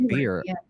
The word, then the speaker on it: B.I.R.E.: But as far as B.I.R.E, as far as B.I.R.E, biointrinsic energy, biointrinsic resonant energy.